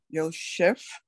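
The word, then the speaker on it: יוסף: The first one, pronounce it. Yosef.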